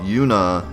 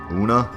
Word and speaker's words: Yuna: my favorite character wrong like if someone called Yuna I don't know unaa anyways I'm getting off